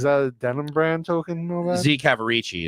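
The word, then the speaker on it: Z. Cavaricci: a denim brand token Z cavarici is the way you pronounce it so it shows what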